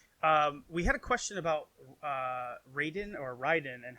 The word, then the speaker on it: Raiden: But so Raiden is kind of like an amalgamation of two words, real quick. Rai, which means thunder, and Den, which means lightning in Japanese. So it's actually pronounced Raiden.